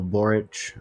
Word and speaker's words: Boric: So basically, at the end of last year, a man named Gabriel Boric was elected as the new Chilean president, basically the first leftist since fucking Allende.